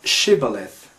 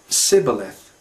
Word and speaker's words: shibboleth: said they unto him, Say now Shibboleth. And he said, Sibboleth, for he could not frame to pronounce it right. Then they took him and slew him at the passages of Jordan. And there fell at that time of the Ephraimites 42,000. So 42,000 men lost their lives because they couldn't pronounce the sh sound.